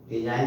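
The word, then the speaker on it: resign: रिजाइन, रिजाइन में भी जी silent है, रिजाइन माने इस्तीफा देना। लेकिन रिजाइन तो वर्ब हो गया, रिजाइन माने इस्तीफा देना। लेकिन अगर इसका हम नाउन बनाते हैं रेजिग्नेशन, तो उसमें जी साइलेंट नहीं रहेगा, उसमें जी बोला जाएगा।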